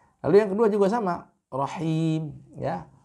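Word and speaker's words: رحيم: Lalu yang kedua juga sama, rahim, ya. Rahim, ya, ra dibaca tebal, himnya dibaca dengan tipis.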